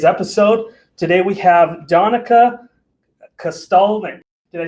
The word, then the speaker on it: Kosztolnyik: Today we have Danica Kosztolnyik.